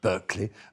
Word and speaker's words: Berkeley: You have to say that, obviously, the pronunciation is Berkeley.